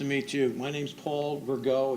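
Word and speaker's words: Rigaud: My name's Paul Virgo. It's spelled R I G A U D.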